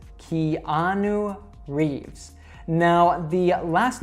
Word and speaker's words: Keanu Reeves: So you should say it Keanu Reeves. Keanu Reeves.